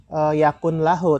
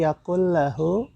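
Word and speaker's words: يَكُن لَّهُ: Jadi tidak dibaca yakun lahu, tapi yakul lahu.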